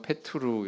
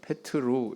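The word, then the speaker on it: Πέτρου: 원문에 보면은 페투루 알파. 베드로가 페투루 이렇게 발음이 되는 거구나 알 수가 있겠죠. 이건 베드로의 그걸 페트루 이렇게 발음하고 베드로의 첫째 이런 뜻입니다.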